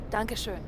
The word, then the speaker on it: Dankeschön: Dankeschön.